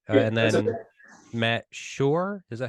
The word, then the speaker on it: Schor: Matt Schor, is that how you pronounce that?